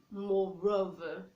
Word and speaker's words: moreover: you can now say moreover, moreover. You say moreover because the letter R is followed by a vowel O in the case of over.